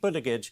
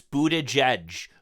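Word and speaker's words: Buttigieg: this Transportation secretary Pete budige said okay it's Buddha judge bootage Edge I know it's a tough name but at least if you're going to be on Fox News try pronouncing it correctly let's keep watching travel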